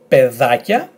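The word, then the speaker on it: παιδάκια: And you will see here that because they're not tones or anything, this combination will be pronounced as e.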